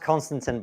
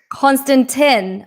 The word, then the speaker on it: Konstantin: It's pronounced Konstantin, by the way. Konstantin.